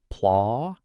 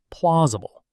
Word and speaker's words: plausible: The main stress is on the first syllable. Plausible. The final part is very light. You don't need to pronounce every syllable heavily. Exactly. Listen. Plausible.